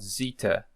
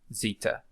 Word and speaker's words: Zeta: 300 BC 400 BC there was a gradual shift in the way Z Z is pronounced so it's something between the and Z probably just for the sake of convention we are going to pronounce it as Z here uh so let's stick